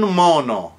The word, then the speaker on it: un mono: Now what happens when you have an N like Nancy followed by an M like Mary? Un mono, a monkey, is pronounced mono. So there you get a double M.